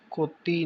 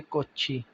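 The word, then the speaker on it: 꽃이: कोची, ये कोती नहीं, कोत ई नहीं होगा, ये कोची, को के बाद छी, ये आगे ट्रांसफ़र हो गया। हनगुगो, हनगुगो, ये देखिए हनगुगो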